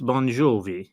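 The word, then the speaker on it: Bongiovi: it's probably an Italian name given the way it's spelled and the way it sounds it's bonj jie so probably an Italian name um but I'm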